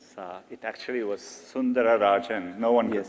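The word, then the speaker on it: Sundararajan: One of the things I read about you, it said Sundar Pichai is Sundar Rajan, right? To give you the whole name. It actually was Sundara Rajan.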